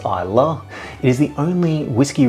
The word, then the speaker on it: Islay: Nicknamed the whiskey island, Isa is spelled I sleigh, but it's pronounced Isa.